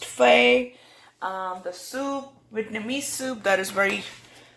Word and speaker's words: pho: this video is about making pho pronounced Fay nummy soup that is